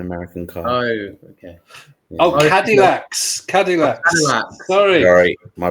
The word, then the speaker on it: Cadillac: that called catalac and dinosaurs the second cataclysm catalac and dinosaurs yeah what are cacs hey what are catalac it's a car an American car oh okay oh cadillax cadillax sorry sorry my pronunciation you all about